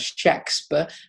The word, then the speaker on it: Shakespeare: the man from Stratford, I tend to refer to as Shakespeare, because that's how his name was spelt and presumably pronounced with a hard A-K. There's no E in it.